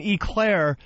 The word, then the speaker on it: eclair: No, if you're in New York, you say aclair. I always said it. How do you say it? Aclair. I've always said it. Aclair. I always said it. E-clair. And people in New York say aclair.